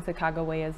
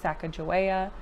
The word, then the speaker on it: Sacagawea: You may have noticed that I'm pronouncing Sacagawea's name a little bit different than what many people are used to, Sacajawea, but um the reason why I'm doing that is just to make sure that I am as historically accurate as possible. Um I looked through a couple of different resources, and the most historically accurate pronunciation they could find was Sacagawea.